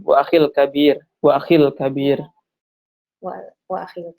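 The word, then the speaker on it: وَأَخِي الْكَبِير: ini bacanya nggak disambung ya Ustadz ya? Wa akhi al-kabir gitu ya Ustadz ya? Disambung, bisa disambung. Wa akhil kabir.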